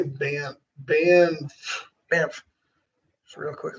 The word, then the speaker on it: Banff: How do you say Banff? Banff. Banff. Just real quick. What are the 2 F's for? That's what they're for. Kind of like 2 L's in Lloyd. Right. One's silent.